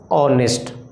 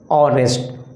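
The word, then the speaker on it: honest: बट H that is your कोसोनेंट बट it sounds vowel. It sounds come from this. इसका उच्चारण इस घर से आएगा ऑनेस्ट। What will you read? ऑनेस्ट।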